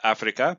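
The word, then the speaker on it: Afrika: And the way to say Africa in Swahili is Africa, but spelled with a K, because the C in Swahili is not used at all for the K sound. That's only used in the Ch sound when you have CH.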